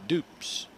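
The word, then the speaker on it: Dupps: evens one-on-one to jacob dupes d-u-p-p-s but it's pronounced dupes like oops except it's got a d in front of it and dupes gets a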